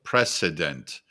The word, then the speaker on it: precedent: So precedent with the S sound.